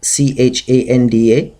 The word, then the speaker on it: Chanda: Chanda and Munda so Chanda you can write c h a n d a and pronounce it Chanda you'll get the pronunciation and